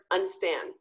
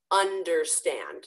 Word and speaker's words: understand: I've heard unstand a lot. Unstand? No, understand. So just a little quick pronunciation hint there.